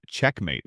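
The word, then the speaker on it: checkm8: It uses something called the checkmate exploit, spelled with a mate at the end, but pronounced checkmate like in chess.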